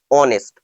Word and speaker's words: honest: আচ্ছা, দেখো তো, হি ইজ এ অনেস্ট ম্যান, এটা কারেক্ট না ইনকারেক্ট? কি হবে? না, ইনকারেক্ট। কেন বলো তো? স্পেলিংটা HONEST, কিন্তু উচ্চারণ অনেস্ট, অর্থাৎ এইচ সাইলেন্ট।